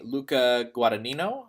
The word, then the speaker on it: Luca Guadagnino: But it's directed by Luca Guadagnino, I think is how you pronounce his name.